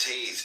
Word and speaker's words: Teth: Secret of all spiritual activities, the name of the path of wisdom, corresponding to Teth, pronounced Taith, transcribed as T, the number 9, meaning serpent.